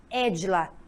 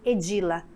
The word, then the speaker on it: Édila: assento do meu nome para que ele tem a pronúncia Édila e não edila do jeito que eu